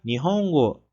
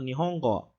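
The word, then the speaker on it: 日本語: A língua japonesa, né, sendo dita em japonês, se fala Nihongo. Nihongo. Né? Alguns japoneses falam esse go um pouco nasalizado. Então, vocês podem encontrar um japonês falando Nihongo. Nihongo.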